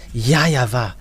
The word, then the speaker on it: YAHVAH: That Grandpa Moshe called YAHVAH is his name. Because this is so obvious. In Eastern part, the W for them, they pronounce it as V or B.